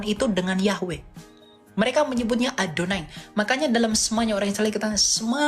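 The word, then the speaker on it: יהוה: heevave itu aksara Ibrani Yod heevave bukan yahwe itu orang Yahudi bacanya itu dengan adonai Adon Adon itu Tuhan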